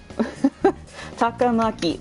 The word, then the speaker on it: Takamaki: get any emphasis like say it like you clap your hand like it's just those simple beats sakamoto takamaki like that oh kasumi i mean